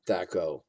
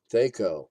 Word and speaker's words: THAC0: I have heard THAC0 rhymes with backhoe. And did you say THAC0 rhymes with Greco?